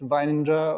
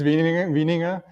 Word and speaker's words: Wieninger: to pronounce in english usually when i travel to the states it's weininger or but actually it's wieninger and yeah i'm the